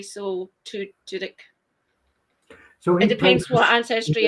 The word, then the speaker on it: Tudyk: I call it Tudyk. So use the Y is like an I essentially. So Tudyk.